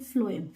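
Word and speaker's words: phloem: करते हैं तो फ्लोएम, ऐसे तो स्पेलिंग पी से होती है लेकिन हम प्रोनाउंस करते हैं फ्लोएम फ से, तो फूड फ्लोएम।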